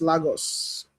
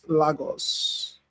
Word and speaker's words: Lagos: I know it's pronounced Lagos. Same pronunciation with the Portuguese. Lagos.